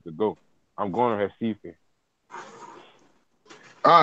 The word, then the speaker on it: Recife: Well, it's Recife, but everything with an R is pronounced with an H.